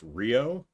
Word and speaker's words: Ryu: Ryu is pronounced Rio.